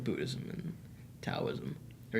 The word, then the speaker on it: Taoism: that, like Buddhism and Taoism. Or Taoism. You can mispronounce one philosophy, not two. You just mispronounced philosophy. Yeah, I did. Why didn't they just put a D there?